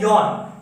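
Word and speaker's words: よん: ही बताया था कि नंबर 4 का 3 प्रोनाउंसिएशन होता है। एक है शी, दूसरा है यो, तीसरा है यॉन। शी, यो, यॉन। तो इन तीनों का प्रोनाउंसिएशन, मतलब इन तीनों का जो यूजेस है, तीनों का यूजेस अलग अलग होता है, हालांकि तीनों का मतलब एक ही है 4।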